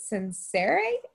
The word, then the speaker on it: censere: It comes from, I'm going to mispronounce this because I'm not great at Latin, but I think how you say it is censere.